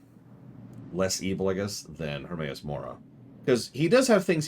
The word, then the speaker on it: Hermaeus Mora: And that does put him a little bit above Hermoas. Oh my god, I always have trouble pronouncing that one. Hermaeus Mora, there we go.